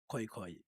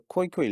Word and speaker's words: Khoe-Khoe: So in the koi koi language you pronounce um the vowels separately o e.